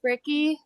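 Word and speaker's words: Fricke: Uh is my first name and then last name is Frickie.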